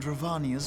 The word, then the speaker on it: Dravania: We too have a vested interest in watching Dravania's movements. Dravania, not Dravania, Dravania. I'm thinking like Castlevania, like Transylvania.